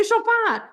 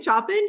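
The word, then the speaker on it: Chopin: not moart it's mzar how do you say shopan you say shopan you don't say shopping you don't say B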